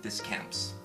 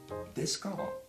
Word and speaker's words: Descamps: My last name is not Descamps. JT, for once, please, please, pay attention. It's pronounced Descamps. It's not that hard.